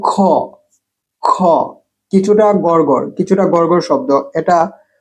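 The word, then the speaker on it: خ: গাড়ের কাছে গাড়ের এর কাছে গলার উপরের অংশ উচ্চারণ খটা গড়গড় কিছুটা গড়গড় শব্দ এটা হা থেকে ভিন্ন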